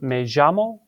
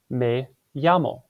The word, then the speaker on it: me llamo: You actually have a couple options for how to pronounce it. You could say me llamo. It's also okay to say me llamo. So it kind of like sounds like the letter J or the letter Y in English. So watch out for that double L because it has special pronunciation rules in Spanish.